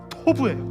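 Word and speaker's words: טוב: 여러분, 도비라는 땅이요, 한국식 발음으로 도비라고 표기한 것이고, 제가 원문을 찾아보니까 뭔지 아세요? 토브예요. 토브.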